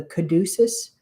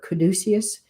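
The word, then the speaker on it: caduceus: And when and they're actually showing me the the uh picture of the kaducus or kaducius. It's pronounced different for in different countries, but it's the the medical symbol of the two snakes going up the the sword.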